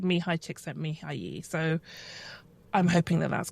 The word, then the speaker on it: Csikszentmihalyi: And I did my Googles and I found a number of videos and they all said Mihaly Csikszentmihalyi.